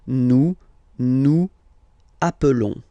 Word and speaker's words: appelons: Okay, nous appelons, and then little link would be perfect. So let's pronounce the whole thing again. Nous appelons. Nous appelons. Okay, final s doesn't exist.